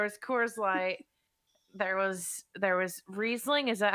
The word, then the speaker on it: Riesling: There was Riesling. Is that how you pronounce that wine I Riesling.